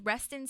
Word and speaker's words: Wreston: His name is Wreston St. James, which I love that name. Wonderful choice for an Eagletonian. The St. James is the cherry. It's great. Yeah. Wreston is spelled with a W, though, which I think